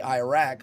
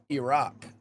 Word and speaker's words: Iraq: And then some people say Iraq, but it's Iraq.